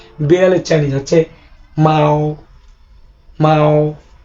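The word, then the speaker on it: 猫: বিড়ালের চাইনিজ হচ্ছে মাও মাও। মাও এখানে বাংলা উচ্চারণ মাও।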